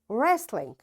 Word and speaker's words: wrestling: Wrist, wrestling, wrong, ran, wrinkle, rack, wrap, wrench. You see, in all these words, because W is followed, after W there is R, so we don't pronounce this W.